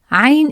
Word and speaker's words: عين: To pronounce it, start by saying a and gently tighten your throat as you speak. This creates the strong, unique sound of عين.